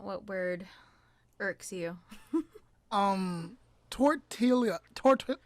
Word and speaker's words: tortilla: them like that is not okay it's a tortilla say it with me yeah that's so funny